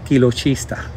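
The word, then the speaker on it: Chiloschista: I was told that you say Kilochista parisii. Se pronuncia Kilochista. Me lo corrigieron ahora día.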